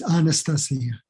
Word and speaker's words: Anastasia: And they give you a little crib and say, think of Anastasia, Sia on a star, Anastasia. But there's no R in it, but it's Anastasia.